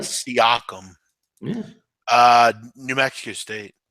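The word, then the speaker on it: Siakam: Pascal syum s AI k m am I pronouncing that right seum yeah uh New Mexico state New Mexico state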